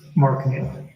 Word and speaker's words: Knipp: Mark Knipp. Mark Knipp? Yeah, it's spelled Knipp, K-N-I-P-P.